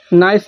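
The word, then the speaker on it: knife: जब कभी यन से पहले आया के साइलेंट होता है। जैसे नॉक मिस होता है दस्तक। नीड मान होता है गुंद। नाइफ मिस होता है चाकू।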